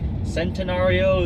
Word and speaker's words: Centenario: kind of looks like centenario Centeno it just it looks like centenario but leave it to the Italians for one see a pronounced like a CH it is a supposed